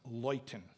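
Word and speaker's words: Leuthen: called lighten light enlighten is a polish town with a german name it's spelled l-e-u-t-h-e-n it's pronounced loyten so the battle is the battle of loyton and it's a famous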